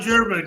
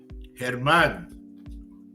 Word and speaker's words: Germán: Sean German, good morning. Germán. Sean Germán. The proper way to say that.